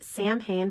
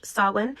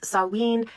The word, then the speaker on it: Samhain: spelled before a lot of people think it's pronounced Samhain but it's actually an Ireland pronounced Salin and Wales it's saline and in Scotland it's pronounced seven and this